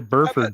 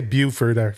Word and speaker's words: Burford: on that one no so nice pronouncing spencer burford by the way a lot of people say buford from what i hear yeah me too